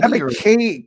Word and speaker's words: Ebiketie: How do you pronounce the name? Ebiketie? Ebiketie.